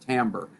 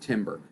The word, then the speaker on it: timbre: as the timbre it's spelled t-i-m-b-r-e but it's pronounced timber uh not timber timber uh timber is what you say when